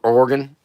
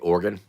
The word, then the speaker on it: Oregon: Notice how I said organ. Cuz I think that's how you say it, right? Organ. Like an organ.